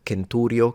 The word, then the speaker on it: centurio: some older pronunciation, like the C pronounced like a K in centurio, centuriones.